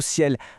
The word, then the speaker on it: CIEL: Alors première chose, c'est quoi ce fameux acronyme Cel ? Et bien ça veut dire cybersécurité, informatique et réseau et électronique. Et petit détail sympa, ça se prononce exactement comme le mot ciel, un nom plutôt bien trouvé, vous ne trouvez pas ?